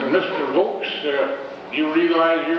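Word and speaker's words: Vaux: Most people say V- AUX and the patrolman said, "Well, I'm from Conway up by Mount Vernon."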